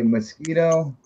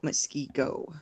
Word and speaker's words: Muskego: Okay, Mosquito. No, Muskego.